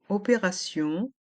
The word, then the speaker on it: opération: Dans le mot opération, le T est entre deux voyelles, donc a le son se. Et avec les lettres I-O-N, on prononce sillon.